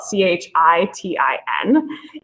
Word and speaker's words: chitin: And chitin, spelled C-H-I-T-I-N, it looks like it should be pronounced kitten, but chitin is a